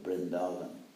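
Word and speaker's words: Vrindavan: Of course, in East India, they pronounce it like a B. In fact, in the Bengali alphabet, there are no separate letters, V and B, it's the same letter. So they say Bandeham or Brindavan. But anyway, that's phonetics.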